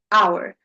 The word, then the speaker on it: hour: had silent letters example our from French silent word is h right hour we're not saying power right in psychology we have silent p we're not saying psychology we're saying psy psychology.